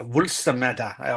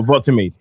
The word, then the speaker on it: Woltemade: say a lot of the accents is with a vuls, that's like a vuls, like that, something like that, Wulsameda or something like that. Yeah, so it'd be something like that. That's how you pronounce the name.